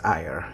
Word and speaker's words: AER: At least I think it's pronounced as AER in Romanian.